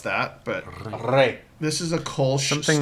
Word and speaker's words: Rrey: After you drink this beer, you're going to get E like bet. So Huh? it's like a eh. eh. Rrey. So it's rare.